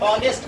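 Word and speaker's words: honest: क्योंकि हमने पढ़ लिया है कि ऑनेस्ट, इसको हॉनेस्ट नहीं पढ़ते हैं, एच साइलेंट है, ऑनेस्ट पढ़ते, अ आता, अ से लेके अह तक आ जाएगा, तो वोवेल साउंड।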